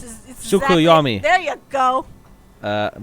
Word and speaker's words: Tsukuyomi: Tuskayomi. The T is silent. Ah, like tsunami. It's Tsukuyomi.